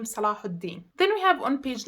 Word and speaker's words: Salahuddin: So for now, we have the name Yaqub, as in Jacob, and we have the name Salahuddin.